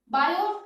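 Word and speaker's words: Biot: यूज करेंगे वो होगा बायो वैसे टी लिखा जाता है लेकिन टी इसमें साइलेंट होता है, तो बायो-सावर्ट्स लॉ।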